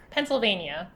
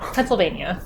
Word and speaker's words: Pennsylvania: new YK site yeah Pennsylvania yeah Pennsylvania it's like a pencil and then a vein and then uh Pennsylvania okay perfect so the